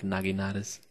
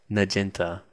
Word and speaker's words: naginata: It only took me about 40 episodes of Shogun 2 to finally be like, oh, it's pronounced Naginata, not Nagenta.